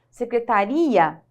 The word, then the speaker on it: secretaria: que o i é mais forte só você pronunciar secretária secretaria então aqui o e é forte e o